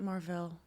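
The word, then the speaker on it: Mar-Vell: Isn't it Marvel? Isn't it Marvel? Well, Marvel was Jude Law's, I think, character, but Marvel was an actual character in the comic books, and they pronounced it Mar-Vel, Right.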